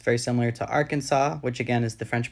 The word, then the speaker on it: Arkansas: it also could be French for the Sioux pronunciation of Kansas hence why it's Arkansas not Arkansas the French pronunciation is